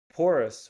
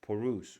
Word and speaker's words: porous: Porus. We're not going to pronounce it like oo. That's French. Poruse. We say like door and then nothing.